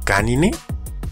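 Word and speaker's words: Caninae: todas las familias biológicas, también es la terminación de las subfamilias, mismas que terminan escritas en NAE, que, como hemos visto, se pronuncia como NE. Así tenemos subfamilias como canine, feline, hominine, entre muchas otras más.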